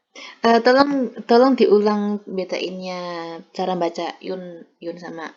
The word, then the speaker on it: une: Tolong diulang betainnya cara baca yun sama ang itu.